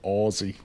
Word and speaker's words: Aussie: Just FYI, Aussie is pronounced more like Aussie with a Z, not an S.